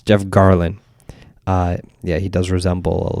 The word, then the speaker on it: Garlin: But like, I always saw that similarity that I was like, "Oh, Jeff Carlin." I believe his name's Jeff Carlin, right? I'm saying it right. Jeff Garlin. It's Jeff Garlin.